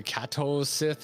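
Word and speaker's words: Cait Sith: you look up the japanese pronunciation it's completely different uh so it's it's like a kato sith or something i forget um so it's it's just been uh that i was like whatever it's it's kate says to me i'm just gonna go with kate sit that's what we're rolling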